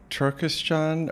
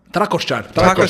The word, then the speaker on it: Trakošćan: One is, I'm going to pronounce this incorrectly, but it's like Turkestan or the castle. Trakošćan.